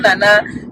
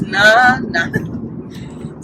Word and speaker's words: Naana: She's not Nana, she's not Naana, she's not Nana, she's Naana.